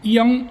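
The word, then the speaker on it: 이응: It is the iang, and iang, as at the beginning of a syllable it's silent, and at the end of the syllable it's an ng sound.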